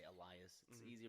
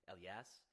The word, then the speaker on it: Elias: is it Elias I just I just say Elias people can understand it I think they're like proper way to say L yes like almost like elo is like that's just how it